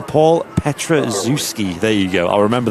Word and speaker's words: Petraszewski: We actually put the pronunciation. Paul Petraszewski. There you go. I'll remember that, Paul Petraszewski.